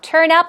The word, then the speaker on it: turn up: and turn up now turn up stress goes right there on the second syllable or rather on up it means to appear